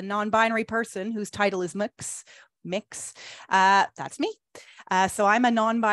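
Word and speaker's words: Mx: So you can officially say that you have heard a non-binary person whose title is Mix.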